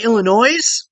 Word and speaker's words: Illinois: Because when people say Illinois, I instantly think you're stupid. There's no S on the end.